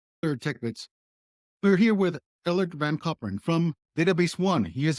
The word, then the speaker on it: Ellert van Koperen: Um, let me try to teach you a little bit of Dutch. I'm Ellert van Koperen.